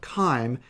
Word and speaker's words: chyme: at this point we have a material called chyme and that's how you pronounce this this is called chyme this is what is in your stomach when